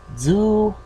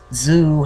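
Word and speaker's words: づ: Now some people tell you it's pronounced zoo, but I can faintly hear the slight d driving it, like z, as in the end of suds. But the D's not as hard.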